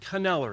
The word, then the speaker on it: Kneller: And you would think like I thought that it was Neller, but it's actually Caneler.